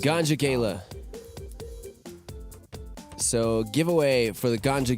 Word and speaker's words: Ganja Gala: Yes, but they're pronounced Ganja Gala.